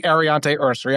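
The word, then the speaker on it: Aireontae Ersery: And I struggle because I have struggled saying Arante Ursery. I'm almost certain I said it right this time.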